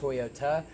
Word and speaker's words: Toyota: Toyota as well but it says it with a T so instead of pronounce toyou duds this one was pronounced Toyota which is something that